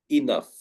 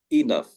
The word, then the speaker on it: enough: In fact, we pronounce it like an F. Enough. Enough.